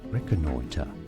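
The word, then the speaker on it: reconnoitre: This is said as reconoiter.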